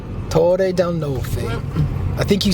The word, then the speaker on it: Torre dei Nolfi: Torre dei Nolfi. Torre del Nolfi.